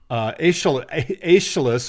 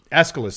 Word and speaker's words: Aeschylus: But it wasn't until sometime in the 6th century BCE that the author Aeschylus, I can never say his name, Aeschylus, thank you, described the three Gorgons thusly: near